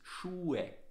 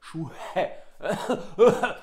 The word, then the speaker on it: Schuhe: Yeah, please try to remember the pronunciation is Schuhe. Yeah, you do not have to aspirate the H, like Schuhe.